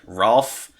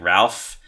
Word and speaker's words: Rowlf: his name more like Rolf. Some people say it more like Ralph. I'm a little bit more on the Ralph side.